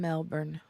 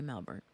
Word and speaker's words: Melbourne: friend Grace she's from Melbourne or Melbourne Melbourne not Melbourne I say Melbourne but you know it's Melbourne here's the thing there's an r in it but they don't pronounce the r hey Sarah however if